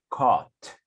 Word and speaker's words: caught: The pronunciation is caught. Cat. Caught. Caught. Esa A suena como una O.